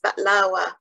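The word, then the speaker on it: بقلاوة: Before reading it, I just want to note that the Arabic pronunciation for baklava is baklawa.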